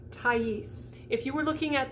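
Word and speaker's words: Thaïs: So if we were looking at this, we might say te or something like that, because S is not usually pronounced at the end of a French word.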